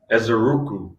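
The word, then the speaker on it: Ezeiruaku: Donovan, how do you pronounce his last name, Rob? Ezeruku.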